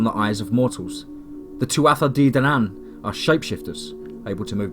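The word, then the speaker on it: Tuatha Dé Danann: Tuatha de Danann. The approximate pronunciation sounds like Tuatha Danann.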